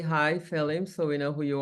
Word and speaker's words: Phelim: 7th was written by Kim mallier say hi fim so we know who you are hello gr 10 out of 10 for pronouncing my name properly oh and um and